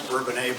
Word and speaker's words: Bourbonnais: And I know a lot of people pronounce Bourbonnais, but I pronounce it Bonus because that's how I was raised.